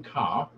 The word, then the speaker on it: Kerr: lawful Governor-General, Sir John Kerr, or Kerr, whichever way you want to pronounce it, he, in conjunction with